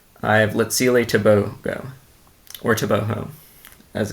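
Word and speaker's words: Tebogo: a personal record I have Lil toboo or toboo as it's pronounced apparently so toboo has yet to run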